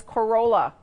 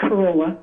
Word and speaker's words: Corolla: And we have one caller here again, and that is Carola. Am I pronouncing that wrong? Hello? Hi, it's Corolla. Corolla, okay.